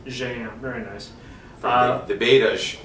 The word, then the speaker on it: Jaen: It does have a Portuguese equivalent called, how do you pronounce it, Mr. Jaen. Jaen, very nice.